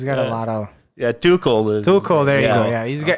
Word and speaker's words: Tuchel: I mean, I think Toxel, I guess his name is Toxels. The manager, he's got a lot of Yeah, Tuchel.